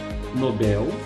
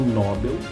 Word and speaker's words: Nobel: O prêmio Nobel, tá? Não Nobel, não Nobel.